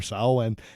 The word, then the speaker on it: Samhain: Now, the whole thing is that there's an old Celtic spirit that would come out, that would emerge on Samhain, right? Isn't that how You it's pronounced that right.